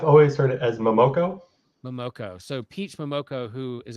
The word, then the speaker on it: Momoko: Momoko.